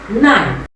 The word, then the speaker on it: knife: The letter K is often silent when it appears at the beginning of a word followed by the letter N. Example, noun, knee, knife. You can see the silent letter K, but it does not represent any sound in the pronunciation of the words I just mentioned.